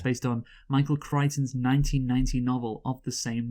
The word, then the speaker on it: Crichton: and the screenplay, of course, was by Michael Crichton, who actually wrote the book initially. Yes, by the way, it's actually pronounced Michael Crichton.